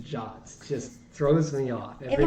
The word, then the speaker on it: JWT: That always, the fact that JWT is pronounced Jot just throws me off every time I hear I it.